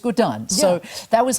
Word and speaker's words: Gordhan: my father called us Gan that's how he pronounced the name so yeah it's Gan so that was how the conversation started and